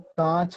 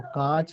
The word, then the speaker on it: काच: ध्यान रखना, ऐसे कई सारे लोग कांच पढ़ते हैं जबकि ऊपर कोई बिंदु नहीं है, तो कांच नहीं काच है।